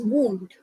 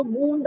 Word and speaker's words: wound: So one is wound. Means when you, an injury, when you hurt yourself. I have a wound on my arm.